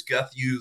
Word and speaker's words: Guth: pronounce my last name it's Guth like Matthews Guth like Matthews okay thank